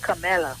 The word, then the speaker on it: Kamala: I think the way to pronounce it is Kamala.